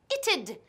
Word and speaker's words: it'd: The first time they refused to say the word it'd. But it's not that difficult. Escucha. Deja de pensar en cómo se escribe. Sí, I-T apostrophe D. Y piensa en la pronunciación. Es it'd. It'd.